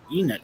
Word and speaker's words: Enid: Enid. Oh, so it's actually kind of like how it's spelled.